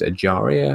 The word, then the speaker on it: Acharya: young boy from Liverpool I think it's pronounced acharya i think there's a correct